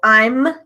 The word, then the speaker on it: I'm: So, I'm I'm Don't forget to close your mouth to make that m ending m sound because a lot of my students miss it. So, for example, I'm teaching English. I'm teaching English.